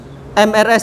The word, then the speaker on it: Mrs.: Terus tadi MRS ya. MRS ini bacanya gimana? Bukan Mers ya, Mrs.